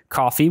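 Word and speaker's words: Ko-fi: we recently launched a coffee page and uh if you're unfamiliar coffee which is spelled k-o-f-i is a platform kind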